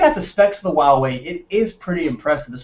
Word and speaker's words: Huawei: It's Huawei? I thought it was Hawaii or something crazy like that.